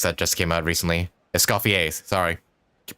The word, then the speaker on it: Escoffier: Mizuki's, Veressa's, and yeah, and Escoffier's that just came out recently. Escoffier, sorry. Keep pronouncing her name wrong.